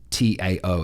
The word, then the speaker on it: Tao: Tao, it's spelt, but it's pronounced Tao.